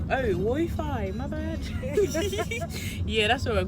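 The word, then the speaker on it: Wofai: Pronounce it. Wofi. Oh, Wofi.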